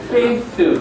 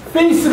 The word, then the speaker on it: faith: 말할 때 번데기라고 얘기하는데, TH 발음할 때는 항상 위 이빨과 아래 이빨 사이에다가 혀를 잠깐 집어넣었다가 빼야 돼요. faith 그렇게 해야 돼. 이걸 갖다가 face 그러면 얼굴이 돼요. 얼굴. 근데 이거를 faith 그러면 믿음이 되는 거예요.